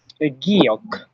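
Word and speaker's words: 기역: তো আজকের যে 14টি ব্যঞ্জন বর্ণ আছে ওইগুলো আমরা একদম সহজ এবং সুন্দরভাবে উচ্চারণ করে পড়ব। তো চলেন, শুরুতে যে বর্ণটা আছে সেটার নাম কি? সেটার নাম হচ্ছে গিয়ক।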